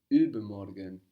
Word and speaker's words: übermorgen: The day after tomorrow is übermorgen. Übermorgen. Übermorgen. This literally means over or above tomorrow. Now the U here is spelled U with two dots above the U. This changes the pronunciation in German.